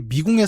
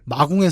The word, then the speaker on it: 마궁: 이게 미궁의 사원이 아니에요. 마궁의 사원인데 다들 미궁의 사원이라고 읽고 있더라.